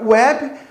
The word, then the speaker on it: web: nosso alfabeto percebam que na palavra web o W tem som de u né neste caso ele é um fonema semivocal porque aí ele é uma semivogal né ele tem um som do de U né de web aí ele tem o som de u Então ele pode ser